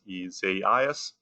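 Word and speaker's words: Isaias: in the alphabet and the pronunciation on the ice storm uh this year if i can get it right is isaiah's um and uh the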